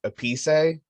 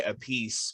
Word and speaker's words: Appice: He goes by the pronunciation of Appice, which is the proper Italian pronunciation. Okay. And his brother Carmine, who is also a drummer, Carmine Appice, and he goes by Appice because he was the drummer for Rod Stewart.